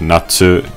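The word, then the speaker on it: 夏: You know that Chinese character for summer, pronounced Natsu in Japanese?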